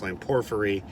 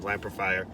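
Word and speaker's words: lamprophyre: about my lamprifire video which i used to call pronounced line porphyry uh but it i guess the technical or the actual pronunciation lampifier uh there's a geo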